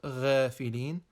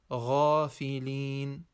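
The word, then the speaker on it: غافلين: Ghafilin, Ghafilin, not Ghafilin, but rather Ghafilin.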